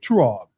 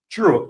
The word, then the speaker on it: Truog: If I say your last name wrong, please don't beat me up. Turog. True.